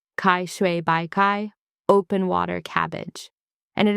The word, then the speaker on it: 开水白菜: This is Kaishui Báicài, pronounced Caishuǐ Báicài, open water cabbage.